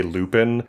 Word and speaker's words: Lupin: I think you could say Lupin and no one would really be upset with you about it. Okay. Because I was saying Lupin because that's how we would pronounce that in English as a name like like the flower.